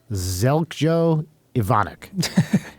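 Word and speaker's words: Željko Ivanek: I'm looking at a picture of the actor Zelko Ivanek, which is spelled Zeljko Ivanek.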